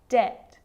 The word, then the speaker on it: debt: Subtle, debt, and doubt. So see, in all of those examples, my lips aren't closing and coming together to form the B sound. I'm just pronouncing the T.